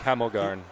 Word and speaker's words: Hemelgarn: It's like Hemelgarn.